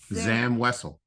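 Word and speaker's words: Zam Wesell: character is oh okay all right show us Zam wessell okay is that the right pronunciation yeah it is it's pronunciation yeah Zam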